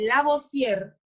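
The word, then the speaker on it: Lavoisier: como la ley de la voz sierra así se pronuncia esto la voz tierra olemos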